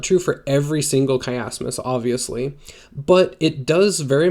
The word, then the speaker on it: chiasmus: It's pronounced chiasmus.